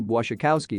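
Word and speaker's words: Błaszczykowski: ski more or less the SZ and cz are like sh and ch and the L is pronounced like a W Bois Schakowsky is how I do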